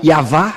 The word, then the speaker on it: Yahvah: C'est Yahva son nom. Voilà donc pourquoi le nom du Père Yahva a été prononcé Yahva, car c'est Moshe qui a prononcé cela dans le livre du